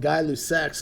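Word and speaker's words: Gay-Lussac: get one who's and it said guy is spelled gay but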